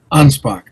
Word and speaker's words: Anspach: Ansbach. Ansbach. Okay. Not not not a a sho a ch at the end. It's a K.